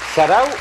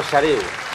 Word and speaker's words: xareu: ¿Sarau o xareu? Xareu, Felicia. Pero sarau no. Sarau, oye, qué sé yo. Pero ¿por qué siempre tenéis que defenderos por un renuncio que tiene esta pobre mujer? Quería cazarte. ¿No se dice un sarau? Xareu. Un xareu. Xareu.